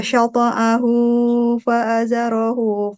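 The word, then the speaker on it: شطأه: kazar'in akhraja syata'ahu fa'azarahu fastaghlaza fastawa Oke, coba dari syata'ahu. Ini hu-nya panjangkan. Cuma jangan kepanjangan, harus pas 2 harokat.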